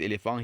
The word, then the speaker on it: éléphant: Well, of course, for this elephant here, it is silent, especially since ANT is pronounced ang, not ant, ang.